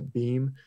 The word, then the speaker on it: Bhima: of a Hercules figure Bhima it spelled me my bhi MA they usually pronounce a beam but you can see